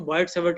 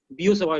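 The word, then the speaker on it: Biot–Savart: तो बॉयड सावर्ट लॉ बोलेंगे इसको, कोई चिंता नहीं है, बट इट इज एक्चुअली बियो सवाय लॉ।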